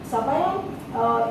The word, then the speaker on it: sabayon: Sabayon, in France they call it sabayon. In Italy it is zabayon. Z, they spell it with a Z.